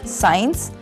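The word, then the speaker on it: science: Saint, गंध, और साइंस, विज्ञान, इसमें सी साइलेंट है।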